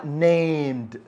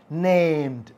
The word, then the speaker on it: named: have a dog name ไม่ มี name เ นะ คะ name เติม ed ออก เสียง ว่า named named อ่า นะ คะ Yeah I